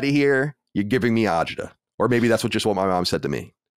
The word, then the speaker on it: agita: Ryan, the word is agita. You're saying a totally different word, which is angina.